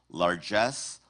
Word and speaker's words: largesse: Your word has two correct pronunciations. Largesse, largesse.